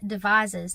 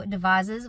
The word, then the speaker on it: Devizes: I do love the way it's pronounced though, Devizes with a Z or a Z.